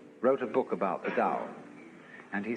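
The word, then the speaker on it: 道: called the dao pao pronounced dao in the mandarin dialect tao in the shanghai dialect told in the cantonese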